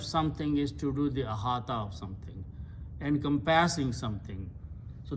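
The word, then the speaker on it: أحاط: When you pronounce, this waw sounds like alif, so it becomes ahata.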